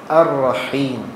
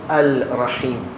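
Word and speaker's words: الرحيم: I can't say Al-Rahman. Ar-Rahim, not Al-Rahim. So there's some Hamza which join and amalgamate to the next letter.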